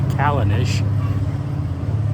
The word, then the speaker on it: Callanish: the town where the stones are at is pronounced calendars I just asked somebody kalanish and um the stone the stones themselves are